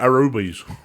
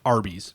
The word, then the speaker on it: Arby's: I've never heard of Aruba's. No, it is. It's pronounced Arby's.